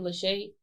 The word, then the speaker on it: LaShay: That's going to be at _ I'm Lachey, and it's spelled LASHAY.